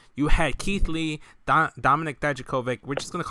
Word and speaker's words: Dijakovic: But you just pronounced it. That was the right pronunciation of his last name.